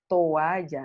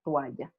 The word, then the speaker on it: toalla: La palabra correcta es toalla, hay un hiato ahí, toalla, tres sílabas. Pero nosotros diptongamos en toalla.